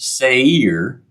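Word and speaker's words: Seir: the Hill Country of it looks like Seer if the commentaries are to are be are to be believed that is pronounced Sayer say here and again we're reminded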